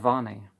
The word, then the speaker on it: Vane: The sound of Vane, God of sound is pronounced like Va-ne, got louder as I approached the door.